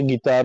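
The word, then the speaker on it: قطار: অনেকে কিতার বলে অনেকে গিতার বলে অনেকে কাফের মত উচ্চারণ করে অনেকে গাইনের মত উচ্চারণ করে আমি কি আপনি কি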